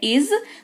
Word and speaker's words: is: तो आज उच्चारण दे रखा है, इसको इस नहीं, इसको इज पढ़ते हैं। नुक्ता लगा हुआ है ज के नीचे, तो थोड़ा सा हल्का सा जबान पे जोर पड़ेगा।